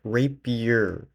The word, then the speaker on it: rapier: Remember, guys, it's pronounced rapier, okay? Not the other one. Not the other R word.